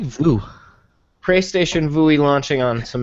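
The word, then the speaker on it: Vue: PlayStation View, the View, is it pronounced View? View. Vui? It's like Voo.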